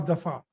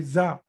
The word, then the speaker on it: ض: It should not be za. The pronunciation of letter dad should not be like za, like z. Okay. It should be, the pronunciation should be da.